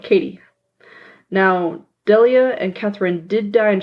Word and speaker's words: Delia: I'm not sure if this is pronounced Delia or Delia. It's D-E-L-I-A. I would say Delia.